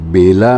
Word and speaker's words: वेला: और अब इसके समापन की वेला है, तो समापन की बेला में या वेला में कह लीजिए, दोनों उच्चारण अपनी अपनी जगह ठीक हैं।